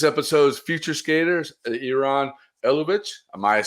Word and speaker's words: Ilutovich: hard name i know it's a ilutovich it's a russian name and it's pretty long